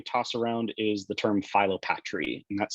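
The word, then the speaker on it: philopatry: Another term that you're going to hear me toss around is the term Phyllopatry, and that's spelled P-H-I-L-O-P-A-T-R-Y, Phyllopatry.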